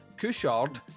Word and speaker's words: Couchard: The movie itself stars Lawrence Lucas, Brigitte Lehane, Gigi Coruscant, I think that's how you pronounce that, Jean-Luc, not Picard, Couchard, rhymes, so it may as well